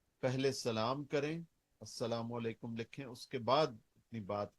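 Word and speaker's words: السلام عليكم: meme अल सलाम वालेकुम उसको जब हम लाम को साइलेंट कर देते हैं तो वह अस्सलाम वालेकुम हो जाता है लेकिन लाम वो अपनी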